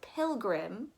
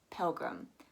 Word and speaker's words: pilgrim: the screen right here, a lot of Indians tend to pronounce it as pilgrim, which is how it is actually pronounced in the UK. But in American English, we pronounce it as pilgrim.